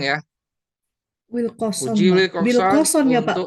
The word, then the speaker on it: Wilcoxon: Wilcoxon Wilcoxon ya Pak. untuk Bacanya apa Pak?